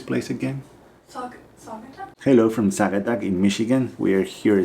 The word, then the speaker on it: Saugatuck: How do you pronounce the name of this place again? Saugatuck? Hello from Saugatuck in Michigan.